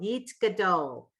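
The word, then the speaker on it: יתגדל: It's a blend. The yeet, it goes yeet. The shava, it's a silent. It's finishing a syllable. Yeet gadol. Yeet gadol. Where have you heard that word? Yeet gadol. Yitkadal. Yeah, one is Kaddish. That's right. Yeet gadol. Right. So the shava, when it finishes a syllable, was silent. The tav went with the yud.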